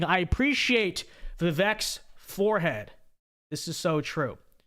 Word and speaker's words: Vivek: It's pronounced Vivek. That's the way it's literally the English letters say, at least the American accent, right?